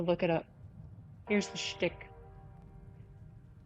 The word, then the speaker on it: shtick: The real question to any Americans here, since it's the is it a meme or has any background that you're pronouncing it shtick? That's a Yiddish thing.